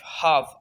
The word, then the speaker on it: half: एल जो है silent है, CAM काम। HALF, हाफ, आधा।